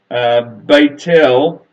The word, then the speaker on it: Beit El: an idea of where Beit el which is how Bethel is correctly pronounced where it actually is